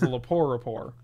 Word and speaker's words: Lepore Rapport: Wednesday was a show called The Lepore Rapport, which was a play off the Colbert Rapport with a silent T. So it was The Lepore Rapport.